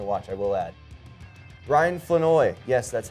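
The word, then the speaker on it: Flournoy: Ryan Fenoy, yes, that's how it's said.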